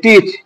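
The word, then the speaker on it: teach: এখানে দ্বিতীয় উদাহরণ দেখলে বোঝা যাবে যে টিচ টি এ সি এটি তো এখানে এটা সাইলেন্ট হবে।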